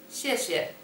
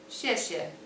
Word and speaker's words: 谢谢: 谢谢. 谢谢.